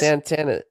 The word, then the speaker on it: Santana: Santana. Did I pronounce your name right?